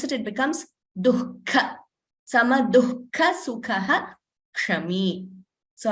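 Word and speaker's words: दुःख: So dukkha, see the pronunciation of that word. It is duhu and kha. It means sorrow in Sanskrit. But when you pronounce it, it becomes dukkha.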